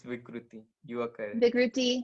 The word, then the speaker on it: vikruti: right which is um am i saying it right the vikrooty vikry figrity yes it's correct it's vikruti which is then your